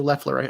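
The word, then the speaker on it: Loeffler: last four polls kelly lawful are in these polls or leffler i keep saying it wrong um the public policy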